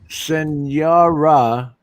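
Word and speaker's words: señora: Senora, because of the thing over the N.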